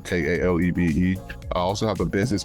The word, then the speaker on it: Kalebe: It's spelled exactly how it sounds. International, and then Kalebe, Kalebe.